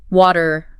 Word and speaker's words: water: The T just softens between vowels. Happens a lot in words like water, later, metal. Huh.